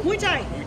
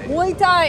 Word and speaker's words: Muay Thai: Muay Thai. Muay Thai.